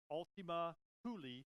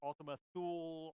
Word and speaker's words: Ultima Thule: that we will call it Ultima Thule it's pronounced Ultima Thule so you will hear people pronounced as Ultima Thule Ultima Thule okay fine I'm not gonna argue